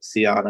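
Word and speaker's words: Sion: C and James uh Seion I believe is how you pronounce it.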